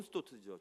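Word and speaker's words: Stott: 거기에 제가 그때 공부하고 있을 때 존 스타트 목사님, 영국의 존 스타트, 영국 발음 존 스토트죠. 존 스토트.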